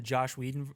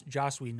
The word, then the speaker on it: Joss Whedon: i don't remember if this is in the josh whedon josh joss whedon i'm sorry we uh version of this no you can't mispronounce it um yeah i mean and i'm